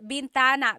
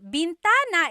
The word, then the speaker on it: bintana: Uh driving driving said bentana. Bintana is actually window.